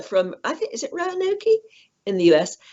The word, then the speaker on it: Roanoke: Roanoke. Yeah, Roanoke. Yes. We'll do we'll do the pronunciations for each other, because I say everything.